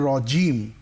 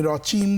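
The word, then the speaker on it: الرجيم: কেমন আউজুবিল্লাহি মিনাশ শাইতানির রাজিম বিসমিল্লাহির রাহমানির রাহিম তোমার তেলাওয়াতে আমি আউজুবিল্লাহি মিনাশ শাইতানির রাজিম জিমটা শক্ত পাইনি রজিম বলো দেখি রজিম আমি রচিম চিম শুনেছি রজিম রজিম বিসমিল্লাহ পড়ো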